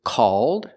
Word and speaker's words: called: The first word is called, it's open, and the second word is cold.